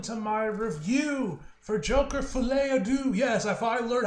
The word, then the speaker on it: Folie à Deux: y'all and welcome to my review for Joker fet Ado yes I fin learned how to pronounce the name I was watching a video